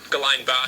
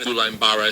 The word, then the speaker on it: Guillain-Barré: Oh, here's how you pronounce it. Syndrome. Guillain-Barré syndrome. Guillain-Barré syndrome.